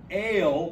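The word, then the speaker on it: אֵל: The word ale, which means God, has a long A sound like the word ale or gale or male.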